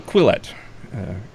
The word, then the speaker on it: Quillette: I'm never really sure how to pronounce that, but it's just double L. So Quillette, and you wrote an article.